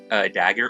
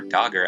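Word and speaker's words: Dagr: Dagger or Dogger, I think her name is actually pronounced like Dogger or something like that.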